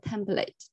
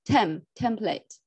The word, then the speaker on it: template: yeah the the stress is on the first syllable template template so I think time is almost to run